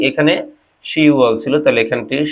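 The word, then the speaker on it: 시월: কি হবে 10 মাস, কিন্তু কোরিয়ান উচ্চারণে কি হবে শি ওয়াল, এখানে বটা বাদ যাবে।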